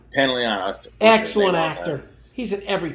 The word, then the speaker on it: Pantoliano: Joe Pantoliano. Pantoliano.